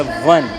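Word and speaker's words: one: Related एक word है, क्या हम लिखते हैं तो ओ से शुरू होता है लेकिन इसका प्रोनाउंसिएशन वी से होता है, वाह होता है। तो बहुत से बच्चों ने बताया वन।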